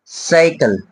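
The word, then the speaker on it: cycle: বাট কয়েকটা trick আছে সাইকেল এখানে কিন্তু স্পেলিংটা আছে সি ওয়াই সি এল ই দুইটাই কিন্তু সি বাট যখন উচ্চারণ করছি আমরা একত্রে কিন্তু সি টা আমরা এখানে পড়তে হচ্ছে আমাদের স একটু খেয়াল করবে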